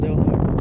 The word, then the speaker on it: Del Norte: And if you can see that sign over there, it says Del Norte, but they call it Del Norte, so I imagine that's a local thing.